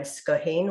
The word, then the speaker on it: Scoithin: And someone suggested the name Scohin, which is spelt Scoithin. And I thought, oh yeah, that's quite a good one, Scohin.